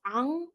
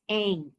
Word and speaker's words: Ang: also to white people who often mispronounce Ang as Ang.